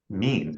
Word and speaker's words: mien: Oh, I have to double check the pronunciation. Mean. It was Oh, mean. mean. yeah, you're right.